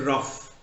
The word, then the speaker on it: rough: Then Bernard Shaw said, "See, look at the word rough. Rough. How do you pronounce this GH? GH is pronounced as F.